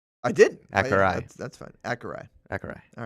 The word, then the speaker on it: Akureyri: got a pronouncer? Akureyri is the Is the second word?